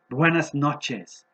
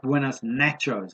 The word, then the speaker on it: buenas noches: I met some people after about 2 months, and I said to them, Buenas noches is the right way to say it, not Buenas nachos, as I said.